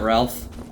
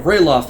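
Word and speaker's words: Ralof: mountains of Skyrim here we go is that Ralph next to Imperial there he is or you know rayloff as his name is pronounced look who it is how have you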